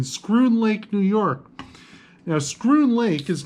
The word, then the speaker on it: Schroon: Now, Schroon Lake is not spelled the way you'd think. It is spelled S-C-H-R-O-O-N, not screwn like the past tense of screw, as in a screw.